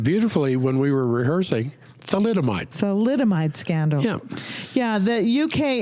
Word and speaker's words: thalidomide: Thalidomide scandal.